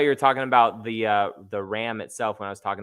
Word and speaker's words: Ram: It's pronounced Ram. Ram. It's RAM. Couldn't wait for the future content you have. I appreciate it, man. I appreciate it. Oh, I thought Arham.